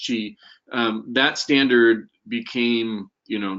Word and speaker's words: Qi: the Qi standard which is spelled the Qi pronounced Qi that standard became you know there was a competing standard but when Apple chose cheese and it was kind of game over and